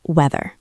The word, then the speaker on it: wether: No A and no H after the W, just weather.